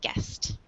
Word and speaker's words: guest: And when we pronounce this word guest, it's like the U is silent. It's just like guest.